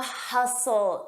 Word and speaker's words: hustle: The hustle and bustle. Notice that T is silent.